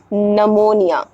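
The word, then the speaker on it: pneumonia: है वो हमारा साइलेंट हो जाएगा जैसे कि निमोनिया निमोनिया का स्पेलिंग क्या है पी एन ई यू एम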